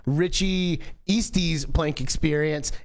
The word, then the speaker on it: Eastes: No one knows how to pronounce it, and it's not pronounced how it's spelled. It's pronounced Eastes. Eastes.